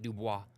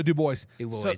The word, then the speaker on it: Dubois: Idaho that pronounced it Dubois but uh you got to make sure you pronounce the S out here you say Duo out here they're going look at you like you're funny so do boys so um I actually